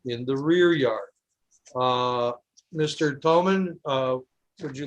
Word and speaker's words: Thoman: is that Thoman? Is that how you pronounce it? It's Toman. Thoman, I apologize.